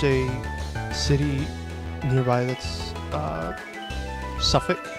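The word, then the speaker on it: Suffolk: It's always just f you go you just skip every you just go you skip from the F to the K. Don't worry about anything in the middle.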